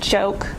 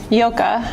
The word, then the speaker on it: Joke: write her name because I think most people think it's pronounced joke but it's not so yoga during us so her